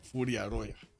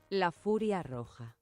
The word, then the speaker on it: La Furia Roja: He's the Furia Roya. Well, Roja. The Red Fury, if I'm not mistaken. How do you pronounce this actually?